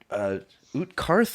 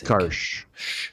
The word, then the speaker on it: Utkarsh: The first battle, I guess, where Utkarth or Utkarsh? Utkarsh. With an SH?